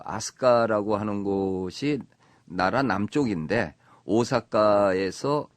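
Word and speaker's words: 飛鳥: 그 거기도 아스카라 그랬는데 여기는 날빛 자에 세조 자를 써서 그 비조 아고 쓰고 그 아스카라 발음을 해요 지금도 그렇게 씁니까 우리가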